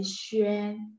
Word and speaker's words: xuan: Bukan xian tapi xuan, xuan ya, nada satu ya, dan nada-nada lainnya.